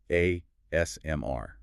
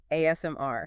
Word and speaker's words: ASMR: Now, this is an initialism, meaning it's an abbreviation where you pronounce each letter individually, ASMR, and you naturally put the emphasis on that last letter, R.